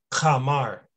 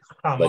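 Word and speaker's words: חמר: So again, that's that modern Hebrew pronunciation. But really, this word is Kamar. Kamar. Yeah, Kamar. That's what it is. Kamar. Right? It's like a throat K, basically. Like almost like you're hawking up spit.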